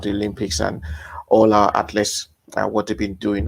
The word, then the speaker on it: ATHLST: how you pronounce this atlas yeah without the vowels but uh yeah without